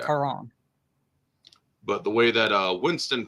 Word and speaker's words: Charon: it actually be pronounced with a k sound in ancient Greek because there's no ch sound in ancient Greek, so it'd be pronounced Charon.